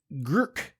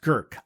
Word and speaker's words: Grk: wines like Pochip and Girk. It's spelled GRK, I kid you not, but it's pronounced Girk, I believe.